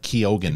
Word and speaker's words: Keoghan: this, and Barry Cook, I think it's like Keoghan. It's Keoghan.